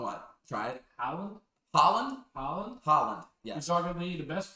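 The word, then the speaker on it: Haaland: You're gonna have to help me pronounce this guy's name. Go on. What? Try it. Holland. Holland. Holland.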